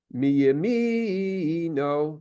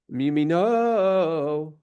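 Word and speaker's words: מימינו: Now, it could be sung mi yamino, right? Where the emphasis is on the second mem. But because the cantillation is on top of the nun, it is mi yamino. Exactly, yeah. Right? So that tells you exactly where you're going to put the emphasis, onto which syllable, so to speak, you're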